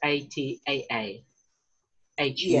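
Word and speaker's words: ataahua: It's like a macron, but possibly just a little bit longer. So the Atahua, for instance, A-T-A-A. H-U-A.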